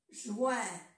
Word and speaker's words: juin: Si se dan cuenta, aquí en francés se escribe con V y en español se escribe con B. Abril. Abril. Mai, mayo. A-I-E, mai. Mai, mayo. Juin, junio.